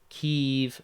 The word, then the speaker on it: Kiev: blah long long article Kiev not Kia okay Kiev so I was saying it right back to the article U.S pledge is another 2.6 billion dollars in weapons Aid to Kiev we are funding a